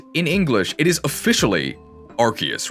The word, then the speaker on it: Arceus: But in Japanese, it is 100% without a doubt Arceus. As somebody said in the chat, it's pronounced Arceus these nuts.